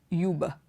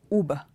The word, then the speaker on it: Uber: is you BER I've heard lots of people pronounce this word as yuba because you have that you there it's not Huber it is uber uber it's not Yuba it is uber the